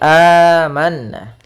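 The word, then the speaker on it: آمَنَّا: dasarnya adalah a'manu, dibadalkan diganti menjadi panjang karena di situ ada dua hamzah. Sehingga diganti menjadi amanna. Kemudian pada lafal manna di situ ada bacaan gunnah pada huruf nun yang berharakat tasydid. Maka cara membacanya yaitu ditahan dulu suara gunnahnya sepanjang 2 harakat. Amanna, kemudian baru dibaca nanya.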